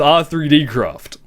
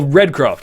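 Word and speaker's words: R3D.CRAFT: why you using default I'm not it is our 3D craft or redcraft is how it's actually pronounced and it's 128 pixel texture pack although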